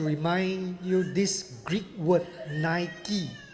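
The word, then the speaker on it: Νίκη: ม ั ้ ง In Greek, it pronounced Nike.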